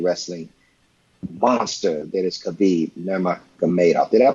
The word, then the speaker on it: Nurmagomedov: with the chain wrestling monster that is Khabib Nurmagomedov. Did I pronounce it right? Yeah, Nurmagomedov.